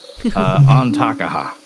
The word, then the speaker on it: Antakaha: Well, fuck it, I just mispronounced that real bad. Antakaha.